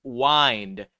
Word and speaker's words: wind: wi voler ditch yes it is pronounced wind as in to wind up something don't correct me it's